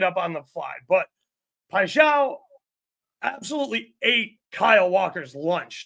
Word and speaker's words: Paixão: Pacquiao, however you say his name. I shall. Paixão, thank you.